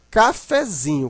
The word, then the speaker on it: cafezinho: Mas na hora que você transforma essa palavra para cafezinho, você observa que o fé, ele não é tão fraco, mas ele também não é tão forte como o zin. A sílaba mais forte aqui é o zin, né? Cafezinho, mas o fé continua um pouquinho forte.